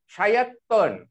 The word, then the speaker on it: শয়তান: শায়াত্তন। এটা শয়তান উচ্চারণ হবে না, এটার উচ্চারণ হবে শায়াত্তন।